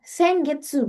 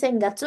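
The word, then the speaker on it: 先月: Kalau dia pasangannya seng, si gatsu ini bacanya getsu ya, jangan ketukar ya. Sengetsu, bukan senggatsu atau sengsuki. Salah ya.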